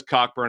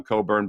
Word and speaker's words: Cockburn: big man tony finn says cockburn i'll say it correctly this time coburn but he's still a